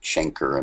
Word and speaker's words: chancre: By the way, here's a picture of a chancre. Some people pronounce it chancre in modern times because of the common name canker sore, C-A-N-K-E-R, which has nothing to do with syphilis.